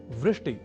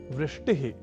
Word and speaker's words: वृष्टि: एक शब्द है वृष्टि या वृष्टिह। पर कभी-कभी हम में से कुछ व इस अक्षर का उच्चारण ब के रूप में कर दिया करते हैं। और वे बोल जाते हैं वृष्टि या वृष्टिह।